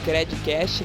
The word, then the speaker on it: Credcast: Até a próxima e não esquece de compartilhar também o nosso conteúdo aí com a hashtag Credcast, lembrando que o D é mudo.